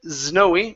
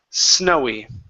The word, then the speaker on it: snowy: came this word here instead of snowy with a Z sound it's an unvoiced s snowy snowy good good ok let's